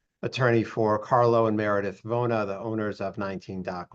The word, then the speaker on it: Vona: That's 2024-C3 CAM Carlo Vona. Am I pronouncing this correctly, Attorney Blank?